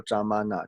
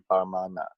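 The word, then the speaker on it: प्रमाण: 那有一些呢是讲说，是念说扎玛纳，但是呢，正确的读音呢，他们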